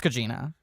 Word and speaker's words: Gugino: I worked with her and I could still never remember how to pronounce her name. I think Gugino. it's Gugino.